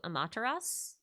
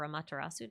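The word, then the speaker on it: Amaterasu: Um I know A's name means shadow, but she has a lot of parallels to Amataras, who would be or Amatarasu, depending on how you want to pronounce that.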